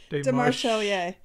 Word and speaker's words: Demarchelier: I don't want to pronounce the name wrong. It's okay. Demarchelier. Demarchelier.